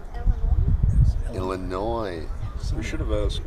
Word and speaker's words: Illinois: Illinois. We should have asked. Why do they put an S on the end? If you're not going to pronounce it.